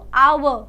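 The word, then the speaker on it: hour: क्यों एन लगा दिया क्योंकि जब आप एच ओ यू आर को प्रोनाउंस करते हो तो यह क्या बन जाता है या तो आप इसे ब्रिटिश या इसे आप अमेरिकन प्रोनंसिएशन करते हो आव या फिर आर पर दोनों ही प्रोनंसिएशन में एच तो आता ही नहीं है ह की आवाज तो आ ही नहीं रही है आवाज किसकी आ रही है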